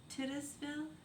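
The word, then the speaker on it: Titusville: Tittisville.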